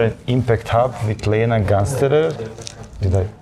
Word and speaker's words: Gansterer: So, dear friends, today we are at Impact Hub with Lena Gansterer. Did I pronounce it correctly? Yeah, it's fine. Lena Gansterer, yes.